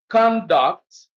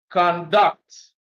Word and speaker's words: conduct: So when it is used as a verb, stress is on the second syllable. When used as a noun, stress is on the first syllable. Example, conduct, conduct, convict, convict, export, export,